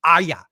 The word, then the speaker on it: Arya: It's not Arya, Phil. It's Aya.